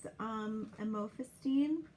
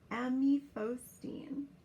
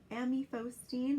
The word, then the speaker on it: amifostine: So in terms of the cisplatin, we would want to use amofostine, or the brand name would be Ethiol to protect the kidneys. I'm sorry, I pronounced it incorrectly. Amifostine. It's printed really small. Amifostine or Ethiol to protect the kidneys.